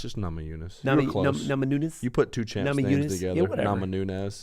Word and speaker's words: Namajunas: It's just Namajunas.